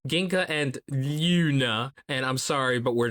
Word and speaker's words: Glüna: looks like this manga's title is genka and gluna however there's a little note in the manga that says the gene Luna is silent and it also has an umlaut so